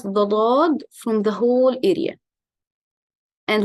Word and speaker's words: ض: For the letter dot, it's articulated from one of the sides or edges of the tongue, and what lies opposite to it, two of the upper molars, left or right.